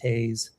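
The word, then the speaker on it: TAISE: That's pronounced taze cuz it's shockingly good.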